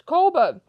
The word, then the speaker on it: Coburg: Is that how you pronounce it? Coburg. Let me have a look. I'm not familiar with many locations, so I have to check how to pronounce the location. Coburg. Yeah, it's Coburg.